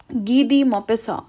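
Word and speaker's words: Guy de Maupassant: it is gedi mopisson ghidi mapissa so you have to learn the pronunciation it is not guy it's ghee it is not there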